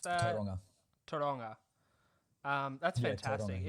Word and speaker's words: Tauranga: How do you pronounce that? Tauranga.